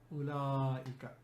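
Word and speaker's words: أولئك: And for plural we have ulaika. It's important to pronounce this ulaika, not ulaika, because wa is silent here. It's written but it's silent. There is a reason for that.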